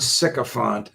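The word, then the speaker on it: sycophant: I mean, it it it gives the word sycopant a new meaning because of its first syllable, sick.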